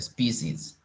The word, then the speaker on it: species: okay it's PC and in plural is a species species species species you can repeat that species